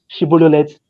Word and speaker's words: Shibboleth: through their dialect, because they could not pronounce Shibboleth the way they have to pronounce. They are going to remove the SH and just pronounce the S.